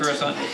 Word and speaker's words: Coruscant: I'm used to saying Kuruskin, Alright. not Kuruskin. Coruscant.